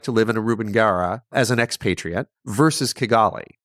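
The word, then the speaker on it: Rubengera: Rubengara, yes.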